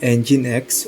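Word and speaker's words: nginx: While it too can operate as a standard web server, the Minx pronounced NineX web server is better known as a reverse proxy server.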